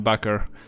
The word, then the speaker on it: Bucker: I'm Bucker, which coincidentally rhymes with fucker.